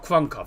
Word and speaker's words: Kraków: Or Kraków, I believe it's pronounced.